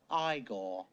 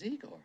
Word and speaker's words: Igor: Frankenstein a lot more Frankenstein you must be eagor no it's pronounced igore but they told me it was eigor well they were wrong then die uh but